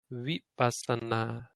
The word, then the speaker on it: vipassana: So you never say vipassana or vipassana, however people say it. That word is highly varied in how people pronounce it, but the correct way is something like vipassana. Vi, like a wa, like a W almost.